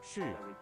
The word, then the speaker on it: 是: No, how's it pronounced again? 是 Sure. Oh, okay, so it goes down.